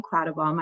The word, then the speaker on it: Quattlebaum: She is Colleen Quattlebaum. I asked her how to pronounce her last name, so I should say her full name.